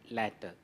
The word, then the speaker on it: latter: The difference is in terms of letter, one added T, as well as the change in the vowel pronunciation, later and latter.